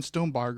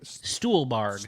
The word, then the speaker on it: Stuhlbarg: Yeah, I'll definitely agree with you on pronounce his name again, Stonebarg, right? Stuhlbarg.